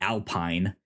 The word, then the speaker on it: Alpine: For us American viewers, it is spelled like Alpine, but it is a French team, thus Alpine.